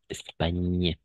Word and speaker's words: Espagne: La seule remarque ici, attention, GN toujours, on va prononcer comme un ñ. N'est-ce pas? Espagne.